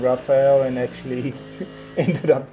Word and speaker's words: Rafael: Well, in Portuguese you say Rafael, but people would say everything Rafael, mostly Rafael.